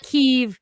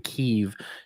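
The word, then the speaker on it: Kyiv: the e identically it's kev it's not kiev but it's kip yeah kiev is the the russian pronunciation right like that's why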